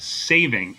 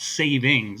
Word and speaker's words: saving: Although I should say daylight saving. It's not savings, it's saving.